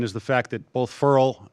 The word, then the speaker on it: Ferrell: the fact that both Ferol it's pronounced parole by the way and Lawrence didn't really